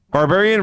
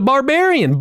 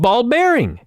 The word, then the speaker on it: Barbarian: not even joking no that's how he pronounced the Barbarian ball bearing I don't know why